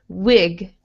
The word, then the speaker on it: wig: Yeah, so for a lot of languages, when you see an I, you want to make it more like an E sound, where your mouth is very wide E, but we want it to be more I.